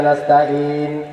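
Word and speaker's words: نستعين: আর আমি যখন ওখানে দাঁড়িয়ে বাংলা পড়ি ইয়্যাকা না'বুদু ওয়া ইয়্যাকা নাস্তাঈন, একটা হলো আইন আর একটা হলো আইন, ইন নরম করে আর একটা শক্ত করে, একটা হলো আইন আর একটা হলো আলিফ।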